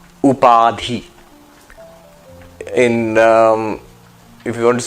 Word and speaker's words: Upadhi: This concept is called Upadhi. Upadhi. In if you want to spell it, u p a d h i.